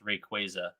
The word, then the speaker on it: Rayquaza: It's because I don't know if you guys saw, but Pokemon I'm pretty sure Pokemon published on their Instagram that it's actually pronounced Rayquaza.